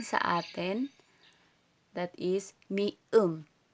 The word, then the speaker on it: 미음: Tapos ito naman, which is M sa atin, that is mium. Binibigkas itong mium.